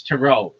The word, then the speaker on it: tarot: But this one I'm sure of it's tarot. It's not ter. Nobody calls it tarot cards.